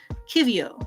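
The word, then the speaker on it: qiviut: pronounced oh here we go an explanation it's pronounced Kio Kio oh okay so kind of in the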